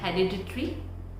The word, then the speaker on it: hereditary: Yes, we have been pronouncing this word as hereditary.